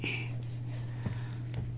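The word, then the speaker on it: い: going to do is I which is e all right this one's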